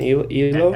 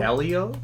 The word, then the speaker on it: Elio: Elo? Elio, Elio.